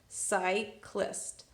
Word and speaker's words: cyclist: see ah sorry CY I know if C is followed by a why it's gonna make it soft sound so psy goes here in soft C syllable now here I have a C but it's followed by an L well if it's followed by consonant it's gonna make its hard sound so it's gonna make it so I have list list cyclist cyclist cyclist seok list here is